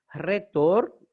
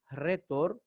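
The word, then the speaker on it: ῥήτωρ: Por ejemplo, tenemos esta palabra que es rodon. Rodon es rosa. Retor, orador, donde viene retórica. Retor, fíjense que no decimos retórica, decimos retórica. Decimos rodon como en rosa en castellano.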